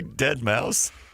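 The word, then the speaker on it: deadmau5: You say Dead Mouse. 801575 zone, but it's spelled D E A D M A U5, the number five.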